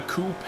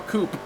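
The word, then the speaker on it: coupé: the 1965 Shelby Cobra Daytona Coupe, as some people pronounce it, or Coupe if you're a regular person.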